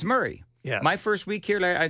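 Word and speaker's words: Maury: I've never understood um Murray County it's right it it looks like my it looks like myy but it's Murray my first week here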